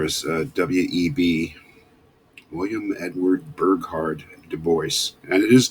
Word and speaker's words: Du Bois: Right in the center there is W.E.B.-- William Edward Burghardt-- Du Bois-- and it is "Doo-Boyce" --he was an American-- so French name but American pronunciation-- W.E.B Du Bois, one of the most important authors, thinkers in American history.